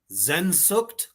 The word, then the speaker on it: Sehnsucht: How do I pronounce it, Reaper? I don't want to butcher it. Sehnsucht?